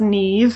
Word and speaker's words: Niamh: my name is pronounced Neeve it's one of these funny Irish names that does not sound like it looks I am so sorry